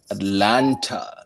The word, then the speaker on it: Atlanta: live in atlanta georgia atlanta you know they say atlanta atlanta down here they don't pronounce the tea first of all it's atlanta thank you